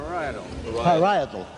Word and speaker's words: parietal: to excuse me to ask once again how you pronounce this word to Father Hesbos. How is it, Father? Parietal. All right. It's parietal, he says.